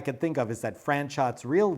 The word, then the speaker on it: Franchot: ever got right was franchot tone she always pronounced it correctly with a hard t at the end of franchot franchot tone was one